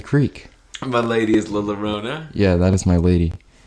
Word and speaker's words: Llorona: Llorona.